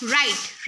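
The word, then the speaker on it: write: राइट, राइट में डब्ल्यू जो है वो साइलेंट हो जाएगा।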